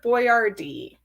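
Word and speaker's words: Boiardi: named Hector and then if you actually say that phonetically the name is actually Hector boardd you might have heard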